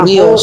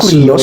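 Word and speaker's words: κύριος: Sejak kapan huruf upsilon dijepit huruf mati dibaca U? Katanya. Kok bacanya kurios sih?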